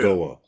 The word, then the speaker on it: Goa: I had it as Goa, the Turtle Conservation in Yeah, Goa. yeah, Okay, that is the name of the country, Goa.